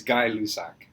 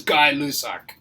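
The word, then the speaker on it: Gay-Lussac: That's just how you That's how you spell it. It's not how you pronounce it.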